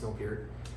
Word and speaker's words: Neil Peart: Rest in peace, Neil Peart.